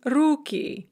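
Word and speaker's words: руки: very often is that there are many dye syllabic words words with two syllables that are stressed on the second syllable in the singular and then the stress shifts to the first syllable in the plural so window becomes ocna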